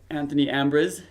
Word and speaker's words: Anthony Ambriz: We are here with Anthony Ambriz. Did I pronounce that right?